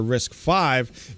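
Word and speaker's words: RISC-V: principles unlike other Isa designs risk V or risk 5 is provided under royalty-free open source license licenses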